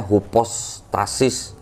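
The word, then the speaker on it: ὑπόστασις: 3 cari kata hipos kalau kalau enggak salah bacanya hupostasis gitu ya hpostasis itu artinya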